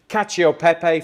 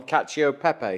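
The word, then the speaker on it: cacio e pepe: thank you right cacio Pepe we've had a little debate in here on how to pronounce it and we've we've we've settled on cacio Pepe haven't we yeah yeah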